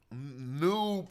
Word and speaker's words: Nub: Nub is how you say gold.